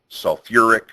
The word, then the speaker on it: sulfuric: those strange ones again sulfate sulfite phosphate and phosphite add an extra syllable when you change them to the acid names sulfuric sulfurous phosphoric phosphorus now if I give